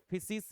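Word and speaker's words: φύσις: फिसिस या फुसिस बोल सकते हैं। अलग-अलग प्रोनाउंसिएशन हो सकती है।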